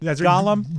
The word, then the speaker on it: Gollum: Hollywood heels my and golum is gollum's cousin Gollum Golan is Golem Golem what is the pronunciation of the it's Gollum Gollum I just